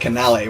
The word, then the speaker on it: Canale: welcome gentlemen thanks Peter yeah and it is pronounced Canali right yes yes it is pronounced George right